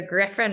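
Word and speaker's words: Gryphon: clarify what they are so the Griffin router which I'll put in the video comments um but it's spelled g-r-y-p-h-o-n I have one too it's amazing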